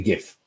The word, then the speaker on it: GIF: going to create a gif okay because i'm a hard g kind of guy so i'm gonna put